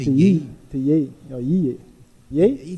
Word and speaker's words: Ye: No, Ye. Ye? He say Ye. Ye, yeah. Well, now you can spell that.